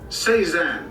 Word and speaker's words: Cézanne: Cézanne, that's how you pronounce it.